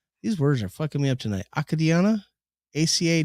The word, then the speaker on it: Acadiana: children to be honest Acadiana Acadiana Acadiana Acadiana oh that makes sense a-c-a-d-i so you got one consonant name between the two vowels so that makes the a long Acadiana yeah yeah way